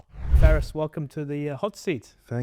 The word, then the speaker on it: Faris: Because I we had a conversation you had you can go Faris, Faris, It's just pronunciation in the end. You know, American Faris, Yeah. Arabic Faris. Faris. With a big F but fat F Far.